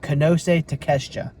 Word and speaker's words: Konosuke Takeshita: I keep saying his name wrong. Konosuke Takeshita.